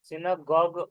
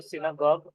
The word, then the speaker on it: synagogue: Synagogue. सिनागॉग पढ़ेंगे उसको। सिनागॉग building जहाँ पर जेविश पीपल प्रे के लिए जाते हैं।